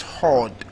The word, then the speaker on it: horde: So that means that HORDE is pronounced hard.